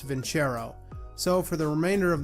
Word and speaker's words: Vincero: Shara now until recently I always thought the brand was pronounced Vince Aero but after I recently skimmed through their website I guess it's actually pronounced VIN Charo so for the remainder